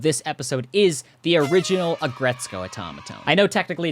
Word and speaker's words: Aggretsuko: the description and buy the winning Automatone, the Agretzko Automatone. And if you wanna make a video about it, remember 2 things. It's a red panda, and it's pronounced Agretzko.